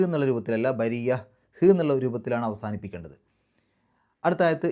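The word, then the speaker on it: بريّة: അവസാനത്തെ ആ ഒരു താഇന് ഹാഇൻ്റെ ഉച്ചാരണം കൊടുത്തിട്ട് നിർത്തുക. അതായത് സുക്കൂനുള്ള ഹാഇൻ്റെ ഹ് എന്നുള്ള രൂപത്തിൽ. ബരിയ, ബരിയ, ബരിയത്ത് എന്നുള്ള രൂപത്തിലല്ല, ബരിയ ഹ് എന്നുള്ള രൂപത്തിലാണ് അവസാനിപ്പിക്കേണ്ടത്.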